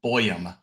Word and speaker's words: Boyum: It is Boyum. So it's Boyum. exactly how it's spelled. It's like boy, but it's okay.